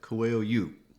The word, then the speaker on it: Coelho: a lot of people would not know that coil you yeah okay so one of the things that